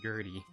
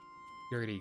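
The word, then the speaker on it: Goethe: I was thinking of the uh hotel in Star Rail where it's the it's like spelled but it's pronounced Gertie. Gertie.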